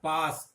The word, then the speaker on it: पास: पाश, पाश का मतलब बंधन, और पास, पास का मतलब निकट। तो इस तरह पाश और पास में भी तालव्य और दंत्य स का अंतर आप देख सकते हैं।